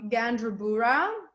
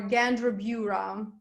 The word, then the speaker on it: Gandrabura: Моя фамилия произносится Gandrabura or Gandrabura. It depends. Usually Gandrabura, yeah, in English. Gandrabura.